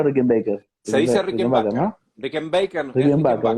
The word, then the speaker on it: Rickenbacker: Se dice Rickenbacker, Rickenbacker. ¿no? Rickenbacker es Rickenbacker, Rickenbacker. mira, Exacto, Rickenbacker, sí.